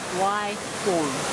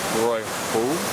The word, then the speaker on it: Waihou: Waihou. Waihou.